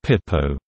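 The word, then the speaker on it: Pipeau: school is often nicknamed Sciences pipe au pronounced and sometimes spelled sciences Pipo Pipo meaning scam in colloquial French this nickname has also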